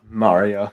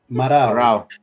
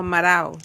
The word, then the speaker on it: Marao: Mario. Just call me Mario. Sorry. How do you pronounce it? Marao. Oh, Marao. Marao. My bad. Or for layman's terms, Mario.